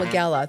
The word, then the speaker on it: Wegela: I want to welcome State Representative Wegela. Thanks for being here today. Thanks for having me on. Also, thanks for pronouncing the name correctly.